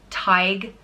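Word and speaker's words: Tadhg: philosopher or storyteller and it is pronounced Tighe like tiger but without the are tyke and it's spelled ta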